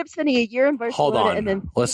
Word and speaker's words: Barcelona: months, or if you want to come to Barcelona for a little while, we could make that